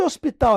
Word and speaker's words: hospital: a ver Professo Pessoal esse hinho aqui ele é chamado de letra etimológica ele não tem som nenhum e o h foi ficando só pela etimologia pela origem das palavras pela evolução da língua mas ele não é nem pronunciado tá então aqui a partir